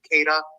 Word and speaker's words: Queta: No, I forgot how to pronounce his name. Queta.